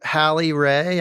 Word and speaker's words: Hallie Ray: To Hallie Ray. Am I saying that right? You are one of the very few people who say it right.